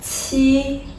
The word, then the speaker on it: qi: So if you pronounce qi aspirated, show me your hand. The position is the same as the first one, ji, but lets the air come out with a burst.